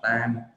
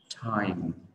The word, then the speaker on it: time: từ mà mọi người rất là nhiều người hay đọc là tam. Đôi khi thì có một số bạn đọc là tham. Ok, thì mọi người lưu ý là cái từ này nó có nguyên âm là âm I. Do đó để đọc từ này mình sẽ bắt đầu từ nguyên âm I và thêm âm ở đằng sau. Mình đọc là I'm, thêm âm ở đầu time.